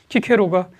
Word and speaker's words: 키케로: 자, 서양에서는 그 영어권에서는 시세로라고 그러기도 하고요. 키 발음 잘 안 써가지고 그래요. 자, 그런 사람이 쓴 책입니다. 거기 1장의 맨 앞에 키케로가 요거 아티쿠스에게 이 책을 바쳐요.